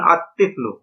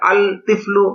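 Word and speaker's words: الطِّفْلُ: তিফলুন আলিফ লাম যোগ তিফলুন সমান সমান আতফলু এখানে আল তিফলু এটা গলত উচ্চারণ লামটা উচ্চারণ হবে নাভাবে রজলুন আলিফ লাম য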